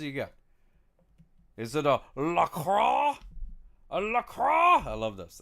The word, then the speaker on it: LaCroix: LaCroix like enjoy. That's right, Squigs Music. That's exactly how you say it.